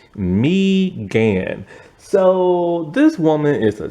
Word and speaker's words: Megan: played by mean follows It's not Megan even though it spelled like Megan it's mean so this woman is